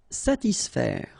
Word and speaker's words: satisfaire: profiter, calmer, satisfaire. Okay, so satis, and then remember A and E together will produce the sound E, so faire, satisfaire, satisfaire.